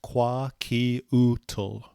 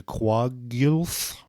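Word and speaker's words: Kwakiutl: The word quakiutl, pronounced quakiutl. It's an English pronunciation of a name from the Quagit language, which is pronounced by the natives closer to Quagilth.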